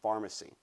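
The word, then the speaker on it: Farmacy: in the farmers market called Pharmacy, spelled with an F. The PH has changed over to the F. Oh, has it? F-A-R-M-A-C-Y. Okay, so gotcha. Pharmacy, Sure. like the pharmacy you go to, but you get a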